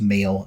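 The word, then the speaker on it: Mhaol: called male which is m h a o l with a with the H in Brackets but I think it's pronounced male and they're quite they've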